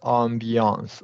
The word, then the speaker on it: ambiance: Oh, the ambiance. Okay, so it's like a French A. Correct. Yeah, it's a lax A technically, but it's a French word.